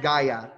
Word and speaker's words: Gaia: The Titan of the Earth is Gaia. Gaia. Gaia. It's Gaia.